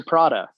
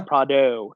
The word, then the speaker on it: Prado: basically a Land Cruiser Prada yeah Prado not Prada my pronunciations a little black